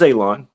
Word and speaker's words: Alon: that well first off my name is Alon pronounced like you're going to cut grass like you're going to cut a lawn it's not spelled that way but it is pronounced that way and when I go